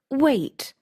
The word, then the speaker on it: weight: How do you pronounce weight? It's pronounced wait like wait.